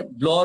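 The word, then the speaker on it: Blanc: चलिए अभी यहीं पर किसी ने ब्लॉ रूल के बारे में, स्पेलिंग उसका बी एल ए एन सी है लेकिन उसको ब्लॉ रूल कहते हैं, उससे पहले वो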